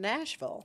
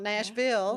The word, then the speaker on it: Nashville: I do know you are from Nashville. Yes, ma'am. Which is how you pronounce it, not Nashville.